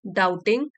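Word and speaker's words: doubting: हो गया है and begin डाउटिंग B silent है इसमें एंड बिगन डाउटिंग शुरू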